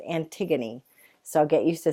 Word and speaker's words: Antigone: gonna start reading a play this week called Antigone that's how it's pronounced it looks like Antigone or anti GaN it's but but it's pronounced Antigone so I'll get used to saying it like